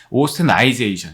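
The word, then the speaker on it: austenitization: 오스테나이제이션인데 이게 사실 오스테나이타이 이렇게 돼 있죠. 이게 스펠링은 이렇게 돼 있는 겁니다. 그래서 읽을 때는 오스테나이제이션.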